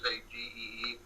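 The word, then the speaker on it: Sagée: Sagee, sorry if I mispronounce it. It's Sagee.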